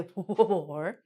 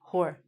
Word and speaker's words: whore: Please notice the W is silent. We don't say whore. We just say whore.